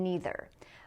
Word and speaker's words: neither: right here, either and neither. Most people in North America say either and neither, but some people say either and neither, which is the more British pronunciation.